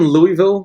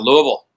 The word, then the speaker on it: Louisville: Fred, are you in Louisville, Kentucky? Is that where you're at? Oh, you said it Yeah, wrong. I'm in the heart of the spirits capital of the world, man. We're right here in Louisville.